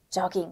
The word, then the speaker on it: jogging: 다만 외래어의 경우에는 즈 발음이 나는 경우도 있습니다. 단어를 한번 들어보세요. 네. 용, 그리고 job, jogging. 네, 요깅이라고 읽지는 네. 않는구나. 네, 다행이죠.